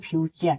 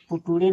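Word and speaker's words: future: देखिए जैसे एफ ई टी यू आर इ फ्यूचर देखिए टी के बाद यू आर इ दिया है तो इसे फ्यूचर पढ़ेंगे। यहीं पे पुट पढ़ेंगे। ये पुटरे नहीं इसे फ्यूचर पढ़ा जाएगा।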